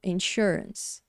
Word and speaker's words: insurance: E aqui tem o símbolo fonético, insurance. Aí eu expliquei aqui que a primeira coisa a gente tem a sílaba tônica e a segunda.